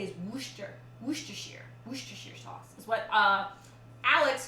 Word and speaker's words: Worcestershire: Cream and Dijon and Worcestershire.